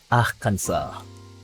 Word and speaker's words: Arkansas: Same reason why Arkansas and Kansas are pronounced different. French versus English colonies. Ah, I see. Arkansas.